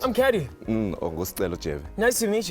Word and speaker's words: CADDY: It's your boy CADDY, pronounced Caddy, running the streets of Johannesburg.